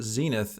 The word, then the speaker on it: zenith: was Crown Zenith um if you search for the word Zenith in Google and you look up the pronunciation this is what it sounds like Zenith what was that again